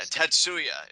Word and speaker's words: Tatsuya: first name and then you just kind Yeah, Tatsuya is how you pronounce it, correct?